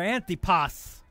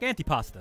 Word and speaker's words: Antipas: 66 you saw there antipas when i asked maletti for the pronunciation of his last name said it's like antipasta just take out the asta part william antipas number 66